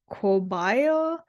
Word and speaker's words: caballo: For the Spanish word for horse, caballo, pronounced cobayo, the key word might be I.